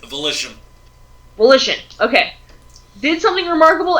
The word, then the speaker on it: Volition: the night of January 28th uh 2016 developers vation I hope I'm pronouncing that right volition volition okay did something remarkable and revealed a